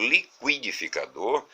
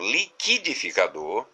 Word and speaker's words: liquidificador: Quando eu digo liquidificador, a letra U foi pronunciada. Mas quando eu leio a palavra como liquidificador, o encontro QU já é um dígrafo, porque o U deixa de ser pronunciado.